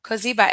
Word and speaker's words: Kiba: Kiba, am I pronouncing your name correctly? Oh, you're on mute. Yes, you are pronounced correctly.